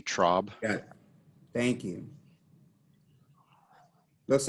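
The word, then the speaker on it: Traub: your last name uh trob it's a short o sound t-r-a-u-b trob thank you looks like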